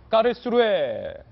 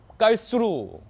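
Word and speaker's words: Karlsruhe: 까를수루에 깔수루 까를수루 뭐 이렇게도 발음을 합니다만 프랑크프루트 남쪽 어 남서 쪽에 위치하고 있습니다.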